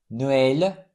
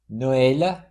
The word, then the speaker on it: Noël: It's used on A, I, and U to indicate that the vowel is to be pronounced separately from the one immediately preceding it. Have a look. Noël, naïf, Saül.